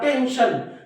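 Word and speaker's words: tension: काळजी असते ना तेव्हा टेन्शन मग या एस नंतर जेव्हा आय व एन येतो तेव्हा या एस चा उच्चार काय होतो श होतो अजून एक स्पेलिंग मी तुम्हाला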